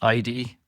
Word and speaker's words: Aydi: I believe this company is pronounced Aydi.